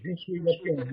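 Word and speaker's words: Je suis la plume: You don't pronounce the last E. Jesuis Laplume.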